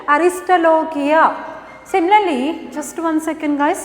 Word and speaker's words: Aristolochia: Aristolochia. See the pronunciation? Aristolochia.